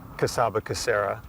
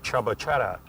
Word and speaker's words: Csaba Csere: name and in fact it's not pronounced casaba Cera it's pronounced Chaba chat but since my Ford